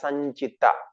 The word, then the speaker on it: Sanchita: It is pronounced as Sanchita.